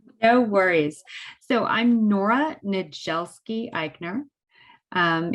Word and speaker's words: Niedzielski-Eichner: worries so i'm nora nadjelski eichner um in polish a dz is a j sound which makes it a little less manageable it's the dz that throws everybody okay perfect but